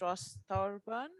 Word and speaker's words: Ross Thorburn: so it gives me great pleasure to introduce ross thorburn have i pronounced your writing you did congratulations thank you